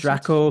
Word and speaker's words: Draco: Draco, kind of like Dracula.